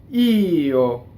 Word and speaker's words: Io: You see how small the O is. Io.